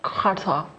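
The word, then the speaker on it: quatre: The pronunciation. Kata.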